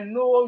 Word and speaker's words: know: We have no. I know your name. No. And it start with K, but the K is silent.